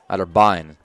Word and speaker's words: Otterbein: Otterbein is the actual pronunciation there.